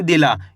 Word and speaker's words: दिला: दिला। इसको दी पढ़ना है, इसको ला पढ़ना है, दोनों को मिला दो दिला।